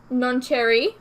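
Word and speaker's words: nocere: so her project is called none non-cherry okay pronounced like Cherry okay which is Latin for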